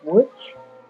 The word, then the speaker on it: Łódź: Okay, I go to the Medical University of Łódź. That's spelled Lodz.